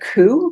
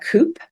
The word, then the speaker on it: coup: like I remember um learning the word coup because we're living through a revolution and I would call it Coupe because I hadn't heard it before but I'd seen